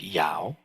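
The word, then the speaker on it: 幺: So this little kind of looks like a E, is in Mandarin pronounced something like Yao.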